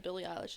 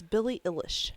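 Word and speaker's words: Eilish: that L even though you said Billy ish is name wrong it's Billy ilish it is not she's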